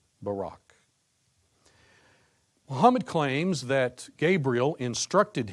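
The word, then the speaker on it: Buraq: Listen carefully to my pronunciation of the Arabic. Barack. Barack.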